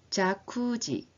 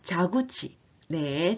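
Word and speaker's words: 蛇口: 들어가셔야 합니다 그다음에 10번 자쿠지 아 자구지네 제가 발음 실수를 했네요 자구지네 자지는 수도꼭지를 말합니다 수지요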